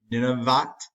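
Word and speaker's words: Nunavut: tribe up here and i always butcher the pronunciation of this n-u-n-a-v-u-t ninevat is um an area in canada it became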